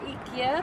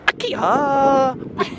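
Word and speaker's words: IKEA: وصلنا الى ايكيا تفضلوا معنا حياكم الله. انا اسميها اكيا. ايكيا اكيا بالياباني. كل واحد ينطقها الشكل كيفي.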